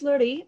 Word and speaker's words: Laurie: um my name is laurie for those who have a hard time pronouncing it it's like marie but with an l um i am a